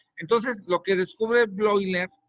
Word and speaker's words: Bleuler: entonces lo que descubre blogger así se pronuncia o bleuler como le quieran decir es que no debemos